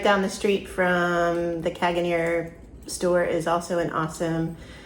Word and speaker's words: Caganer: Do you want to try to pronounce the name of that store? It's Caganer, it's just like it sounds.